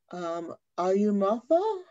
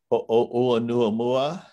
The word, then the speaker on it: Oumuamua: Wants to know your opinion of, hopefully I'm pronouncing it correctly, Oumuamua? Oumuamua.